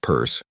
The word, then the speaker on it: Peirce: Charles Sanders Pierce, pronounced purse, was an American philosopher,